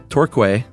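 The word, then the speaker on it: Torquay: Uh you mentioned the other week and I think the Agatha Christie segment we would pronounce it tour as in tour bus in key tour.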